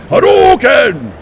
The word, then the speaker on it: Hadouken: Oh yeah, I could say that, but I'm going to say it the proper pronunciation. Please. Hadouken! That's my guy right there.